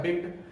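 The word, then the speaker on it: begged: Example से समझिए, एक शब्द होता है बिग, बिग का पास्ट फॉर्म होता है बिग्ड। अब यहाँ पर आपको बेग्ड बोलना पड़ता है, डॉ बोलना पड़ता है।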